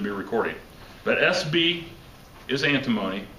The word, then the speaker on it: antimony: moment okay sb is antimony okay now here's how you remember that listen i don't want you to forget and again i shouldn't be recording but sb is antimony antimony rhymes with alimony and if you have